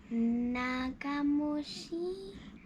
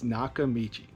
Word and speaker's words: Nakamichi: Nakamushi. Nakamushi. Not quite. What does it say? I don't know. Whether you can pronounce it or not, this is a brand that you need to know. It's Nakamichi.